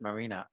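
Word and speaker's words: Maryna: uh she's really fantastic her name is uh Marina m a r y n a she pronounces it Marina and she has these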